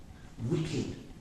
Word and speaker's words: wicked: that one for me wicked wicked so you've got a question surely ed at the end and it's not t or d yeah this idea of